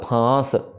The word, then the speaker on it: फांस: तो संबारा उबारा काल फांस फफे के ऊपर पहली चीज बिंदी है तो नाक से आवाज आएगी। दूसरी चीज इसको फ नहीं करना।